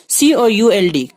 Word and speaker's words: could: COULD could یہاں L silent ہے.